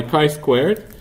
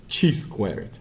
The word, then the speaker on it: chi-square: is, by the way, it's pronounced chi-squared, but it's spelled chi-squared. Chi-square. Not even squared, chi-square. That's how the distribution is called. Don't know why, quite honestly, because it's supposed to be chi-squared, but typically statisticians say chi-square.